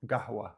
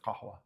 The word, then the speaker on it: قهوة: can't make this sound you can also just pronounce it as a g like a g and try to claim that you're speaking with a bin accent so gahwa instead of kahwa second one is a